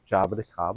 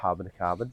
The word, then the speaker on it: Jaboticaba: It's actually a Jaboticaba or Jaboticaba, depending on where you are from and how you pronounce it.